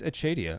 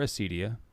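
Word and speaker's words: acedia: tomato it's a Cydia achadia is the more traditional pronunciation because it's a Latin word and if you were to say it in Latin it would be achadia I heard it as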